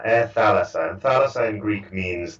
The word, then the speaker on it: Thalassa: Okay, so first of all, the airline that you founded, how do you pronounce that? Thalassa, Air Thalassa.